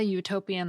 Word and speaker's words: utopian: Similarly, it's a utopian idea because the U at the beginning of utopian makes a consonant Y sound, but it's an unfair